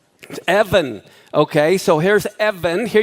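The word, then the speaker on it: אבן: okay okay so here's Evan here you have the olive bet EV there's no ball in the middle of the B and the final noon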